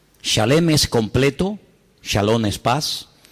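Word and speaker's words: שלם: Es se escribe exactamente igual que la palabra shalom con las mismas letras, exactamente igual, pero se pronuncia diferente. Shalem. Shalem es completo.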